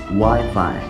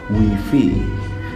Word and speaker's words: Wi-Fi: people still make nowadays the world Wi-Fi is be pronounced Wi-Fi instead of we feel the bowels of I in this world are pronounced I instead of E and the flop here